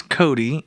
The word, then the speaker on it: Kodi: Roku box let's go take a look at Cody this right here is Cody and it is spelled k o di I and you can